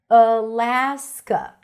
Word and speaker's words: Alaska: Stress is on la. Alaska.